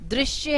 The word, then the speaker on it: दृश्य: इसके बहुत सारे शब्द होते हैं, जैसे कृष्ण है, कृपा है, दृश्य है, और इसका जो उच्चारण होता है वो री होता है, री, कृष्ण।